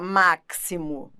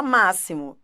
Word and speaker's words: máximo: dois s né aux máximo você não fala máximo você fala máxximo som de 2 s o x pode ter